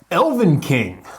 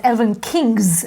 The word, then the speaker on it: Elvenking: Elvenking. Elvenking. I think I always mispronounce this as Elvenkings, as in plural, for some reason.